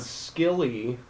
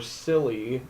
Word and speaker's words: Scilly: and Scilly or Silly, Mm-hmm. which both pronunciations are acceptable, Yeah. is an I have island heard it off.